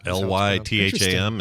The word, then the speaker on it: Lytham: Lytham is spelled Lytham? It's pronounced LIVE-UM, Lytham.